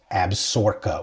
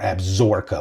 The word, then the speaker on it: Absaroka: this is actually pronounced absor or absor like with a z or an S you know so some